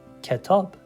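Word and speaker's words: کتاب: Ke tob, ke tob, ketab. So if I was to put it together and say it fluently, it would be ketab, ketab.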